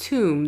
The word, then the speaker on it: Thum: Okay, so that's it. Pronounced tomb.